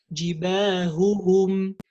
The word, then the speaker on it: جباههم: So we have to say jibahuhum, jibahuhu, hum, jibahuhum, and the other one وَسَبِّحْهُ لَيْلًا طَوِيلًا. وَسَبِّحْهُ. سبحه. We don't say جباههم جباههم, or we pronounce one of them and we say جباههم. No. Or وسبحه ليلا سبحه. You see, it's very easy to say سبحه ليلا. No, it's جباههم سبحه ليلا طويلا. And also one of the